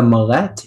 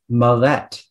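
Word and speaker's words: millet: please uh yes i can mollet okay the malette is defined in terms of religious affiliation with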